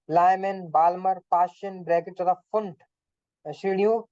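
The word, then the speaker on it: Pfund: और पढ़ने में तो ये पी फंड लग रहा है, बट जो पी साइलेंट रहता है उसका नाम जो है फुंट।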